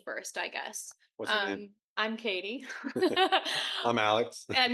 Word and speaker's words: Kadi: Um, I'm Katie. I'm Alex. And he didn't know how to pronounce that when he first met me with a D.